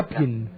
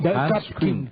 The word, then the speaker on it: Hans Küng: No sé si se pronuncia. Hapkin. No, Hans Küng.